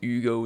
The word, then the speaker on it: Hugo: that would explain why Hugo's name is in French and pronounced as Ugo instead though if this is